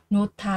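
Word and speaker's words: 놓다: Lưu ý chúng ta có cái âm H này cộng vào cái âm T thì cái âm T sẽ được biến đổi đọc thành là thờ các bạn nhé. Và từ này sẽ được đọc là nota là đặt để xuống.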